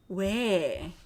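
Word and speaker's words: 외: It should be oy, but it's not. It is 왜.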